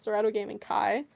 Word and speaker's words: Dorado Gaming: or Dorado gaming Kai sorry I keep pronouncing it wrong we kept pronouncing it wrong and then we got corrected so it's Dorado gaming Kai but um I believe